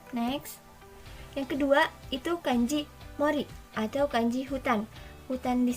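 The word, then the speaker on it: 森: Yang pertama, kungnya itu mori, yang kedua itu ongnya itu shing.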